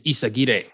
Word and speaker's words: Eyzaguirre: I found out a few years ago I've been mispronouncing my last name my whole life. I've been saying it the white way. Like the correct pronunciation is Eyzaguirre.